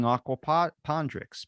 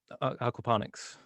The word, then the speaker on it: aquaponics: Or starting aquapondrix. Pondrix? Aquaponics.